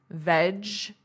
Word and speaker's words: vegetables: Veg-e-tables. So, veg-e-tables. Notice that pronunciation. This is silent, veg-ta-bles.